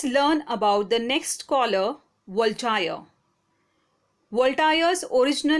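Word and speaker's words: Voltaire: proof now let's learn about the next caller wall tyre wall tires original name was Francoise Mary a our way that is pronounced in French he was of France he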